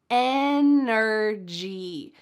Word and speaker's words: energy: Energy. Energy. Don't forget to make that G sound a hard G.